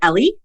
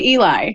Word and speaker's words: Eli: Do you pronounce it Ellie? I say Eli.